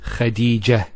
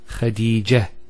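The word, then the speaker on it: خديجة: I actually pronounced the ta marbota as a ha. Medina, Khadija. Now if I stop on the ta marbota, it's actually pronounced as a ha in both cases.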